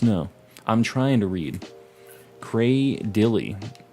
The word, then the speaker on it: Cradily: grass rock fossil Pokemon, say Cradilly. I've never said Cradilly like that before. I think it sounds weird. I always said Cradily, which is like how it's spelled, Cradily. But I guess it's Cradilly.